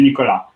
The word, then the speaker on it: Nicolas: of my first name it's a french name so it's pronounced the the first time in spanish like yours because in french most consonants most training consonants are not pronounced so it would be nicola nicola nicolas okay thank